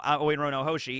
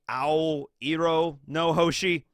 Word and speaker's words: Ao Iro no Hoshi: Yeah, because in Japanese, blue is just A-O, it's Ao. So I guess it would be Ao Iro no Hoshi.